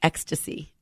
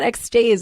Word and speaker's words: Extase: on one remote, but it's EXTASE and it's pronounced ecstasy. Oh, nice. I didn't know that. I didn't know about that at all. I was like, so tell me about ecstase.